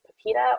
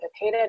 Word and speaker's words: PIPEDA: Documents Act, which is also known as PIPEDA or PIPEDA, depending on how you like to pronounce it.